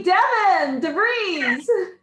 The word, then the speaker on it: DeVries: And our Toastmaster is the lovely Devin DeVries. Couldn't remember there for a second, huh? Yes. Well, now I know how to pronounce your last name properly. Yes. Rhymes with breeze.